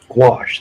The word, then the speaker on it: gouache: Gouache, that's how you pronounce it. I say wash, but with a G in front of it.